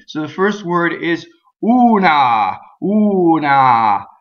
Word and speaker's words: una: the first word is una una so who is always ooh and AH is always ah so the first thing